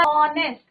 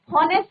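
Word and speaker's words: honest: तो यहाँ पे साउंड किसका, ऑनेस्ट, हॉनेस्ट नहीं बोलना है, एच इज साइलेंट।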